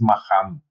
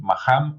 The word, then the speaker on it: Maxam: Maxam se escribe con X, entonces en una de esas a lo mejor es Maham. ¿Sí? Maham o Maxam.